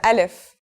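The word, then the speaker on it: ألف: we'll start with Al if so what sound does this letter make that's easy it's just like its English counterpart a in the word Apple Al if is very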